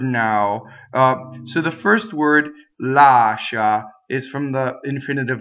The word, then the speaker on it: lascia: What happens is you have SCI, which is pronounced she, and in Italian this is already a double consonant. So when you speak, you can say lascia, but you see how strong the sh is.